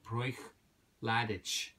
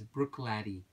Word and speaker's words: Bruichladdich: the correct pronunciation is Bruichladdich laddie like a young young man laddie a lad laddie okay Brooke like a